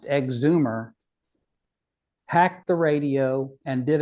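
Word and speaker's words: EGZMR: this gentleman called called EG z m r pronounced exumer hacked the radio and did an AM fix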